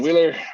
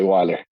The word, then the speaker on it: Weiler: Hey everybody, I am Wheeler or Weiler. Most people pronounce it wrong if I say Wheeler, so we usually say Weiler.